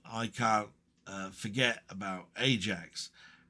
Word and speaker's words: Ajax: I can't I can't uh forget about Ajax pronounced Ajax for those who don't know.